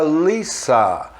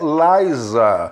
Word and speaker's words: Lisa: personagem é a lissa lissa não é laísa é a pronúncia lá existe existe a palavra live em inglês lz essa aqui é com s é lissa então o que ocorre naquele personagem dos simpsons a lisa simpson não é lisa como as pessoas falam aqui no brasil como se traduz aí como a própria dublagem do vídeo acaba acaba pronunciando então licença e aí